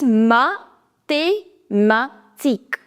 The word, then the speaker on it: mathématique: One more pronunciation rule. Whenever you have QU combination, whenever, in every word, now in your head, replace it with a K. So imagine there is K over here. So it is mathematique.